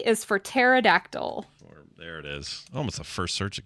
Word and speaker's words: pterodactyl: that yep the name is P is for pterodactyl almost the first search it came up crazy